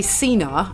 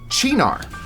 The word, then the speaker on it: Cynar: there's two ways yeah you probably say Cena I say sin oh both both wrong chinar potatoes potato yes for